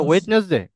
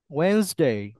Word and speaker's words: Wednesday: 7 days of the week with correct IPA pronunciation. Monday, Tuesday, Wednesday, হ্যাঁ হ্যাঁ হুম, Thursday, এতক্ষণ তাহলে কোথায় ছিলেন আপনি? এটা ওয়েডনেসডে, ওয়েন্সডে, Wednesday, আবার 3বার বলেন।